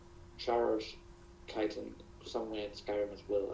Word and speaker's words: chitin: Are you sure you're pronouncing that right? Chitin? It's It's chitin.